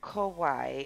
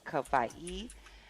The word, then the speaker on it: Kauai: that there's like, you know, and it's not Kauai, it's Kauai.